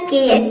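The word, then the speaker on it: care: means होता है परवाह अब यहां पे आप सोच रहे होंगे कि ई का प्रोनंसिएशन नहीं हो रहा है यानी कि ई को हम प्रोनाउंस नहीं करते हैं तो जब भी किसी वर्ड के लास्ट में ई आता है तो ई साइलेंट रहता है यानी कि ई को प्रोनाउंस नहीं किया जाता है देखिए यहां पे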